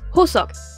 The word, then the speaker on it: Hoseok: prénom se prononce comme un H soufflé, comme dans le mot anglais Hello. Le prénom comporte également un O, un S et un O, et on retrouve la dernière lettre presque muette. Cela se prononce donc Hoseok.